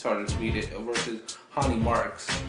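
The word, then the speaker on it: Ronny Markes: Versus Hani Marks, even though it's pronounced, even though it looks Ronnie, it's Hani Marks, his Brazilian name.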